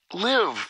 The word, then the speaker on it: live: E preste atenção na pronúncia dessa palavra, pois essa palavra pode ser pronunciada de duas formas diferentes, mas com significados diferentes para cada uma delas. Live, quando tiver essa pronúncia, traz a ideia de ao vivo. Live, live. Agora com a pronúncia de live, live. Significa morar, viver.